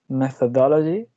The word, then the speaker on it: methodology: The second one is methodology. It got 5 syllables, and the stress is in dull.